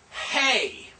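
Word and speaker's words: ה: So we have hay, which is H, as in hay.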